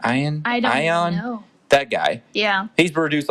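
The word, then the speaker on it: Iovine: they somehow stumbled upon jimmy ionine i think it's how you say his name ayan that guy yeah he's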